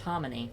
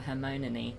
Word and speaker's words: Hermione: mispronouncing her name because I thought her name was pronounced Harmony.